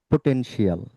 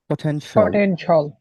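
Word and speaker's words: potential: পারি এইযে এখানে লিখা আছে আপনাকে আপনারা যেভাবে উচ্চারণ করেন যে পটেনশিয়াল রাইট পটেনশিয়াল কিন্তু এটাকে এটাকে কিভাবে আমরা বলব পটেনশল পটেনশল আচ্ছা সবাই হ্যাঁ সবাই সবাই একটু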